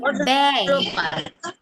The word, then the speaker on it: ব্যয়: তখন এটা উচ্চারিত হবে, কিন্তু উচ্চারণটা হবে একারের মতো। যেমন ব্যয়, তারপরে ব্যথা।